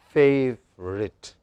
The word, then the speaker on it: favourite: So clearly she clearly distinguishes between A and E. Say, for example, look at the example. There are two vowel sounds pronounced here. This is long, favorite. Long sounds are long, short sounds are very short.